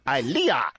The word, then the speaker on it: Ilea: It's pronounced IKEA with an L. Ilea.